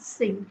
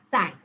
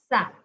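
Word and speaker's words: cinq: cats cat Okay cat number five is not sink it's sank sank so here you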